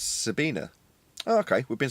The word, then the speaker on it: Sabine: people self reference so it's not Sabine it's Sabina okay we've been saying